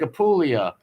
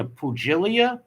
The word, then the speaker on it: Apulia: Just like Apulia. People were like, what does that mean? A pugilia? You know, because the G's in it. That's the region where my people are from, Apulia. Like, people will see it and they'll be like, Pugilia? What's that?